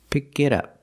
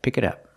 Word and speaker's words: pick it up: pick it up and we hear the T and it sound like a fast D pick it up pick it up she needs to pick